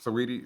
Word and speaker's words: Saweetie: I never know how to pronounce it. Saweetie? There we go. Yeah, Saweetie.